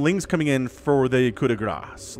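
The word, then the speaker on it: coup de grâce: And then Lings coming in for the coup de grace, like the last one. The coup de grace, it's not C, the C is silent, right? Coup de grace, I believe is how that works in French.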